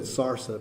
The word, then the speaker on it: salsa: She said sarsa because that's the way older natives pronounce it in Southern California.